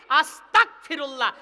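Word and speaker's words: أستغفر الله: আস্তাগফিরুল্লাহ।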